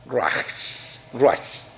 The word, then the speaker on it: ruach: el original del hebreo, que se escribe R-U con acento A-C-H. Ruach, ¿ya? Si yo lo pronuncio en castellano.